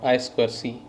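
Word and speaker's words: I²C: stm32h7 inter integrated circuitry i do c or i square c as we commonly pronounce i square c interface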